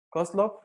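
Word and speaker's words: Koslow: un lógico llamado arnold vosloo koslov así como se pronuncia low cost y consideró esa posibilidad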